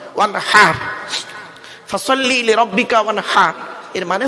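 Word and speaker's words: وانحر: এই গলার ভেতর থেকে এটা উচ্চারণ করবে, ওয়ানহার, ওয়ানহার নয়, ওয়ানহার।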